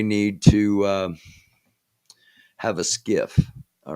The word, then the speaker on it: SCIF: about gotcha um okay so skiff s-c-i-f pronounced skiff it is a sensitive